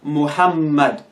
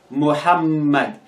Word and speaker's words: Muhammad: ar another example is muhammad muhammad here you realize that the m or the two m's are in red so you pronounce it as if it is separate like muhammad muhammad so